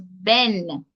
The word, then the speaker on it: ben: is great number two the pronunciation that I gave you was Ben so if you notice in the Jamaican pronunciation that final D